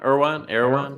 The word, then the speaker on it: Erewhon: Erwal or what's it called? Erewhon. What? I think it's Erewhon. Erewhon. Yeah, I'm pronouncing it correctly.